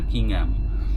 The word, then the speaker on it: Kingham: ওরা হ্যামে এইচটা উচ্চারণ করে না, কিং হ্যাম।